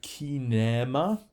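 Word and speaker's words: κίνημα: Okay, then next one we have kinema, cinema. Just notice here you have a long E, right?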